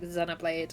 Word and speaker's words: Xenoblade: as a British person my brain just goes to Zeno because over here we call it like Zenoblade and like zenoiforms and stuff.